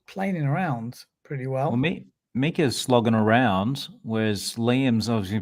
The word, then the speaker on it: Mika: Mika. The I in Mika Ica. is like the I in Italy. But the Italy. So how you pronounce it? Exactly. Go on. It's Mika. Is it Mika?